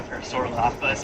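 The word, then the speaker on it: Parasaurolophus: I like the body shape of the parasaur lapas. I'm saying it so well today. I'm actually saying it correctly. Most of the time I always throw in an extra lapodas.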